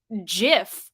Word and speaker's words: GIF: GIF said that is it is pronounced Jif like the peanut butter in either case the